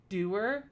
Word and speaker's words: dour: ranjit yeah tertiary dour doer i have never heard it pronounced doer before i've only ever thought it was pronounced our like sour because i felt like